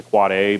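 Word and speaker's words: AAAA: It's pronounced a quad A, but it's written an A record, or A.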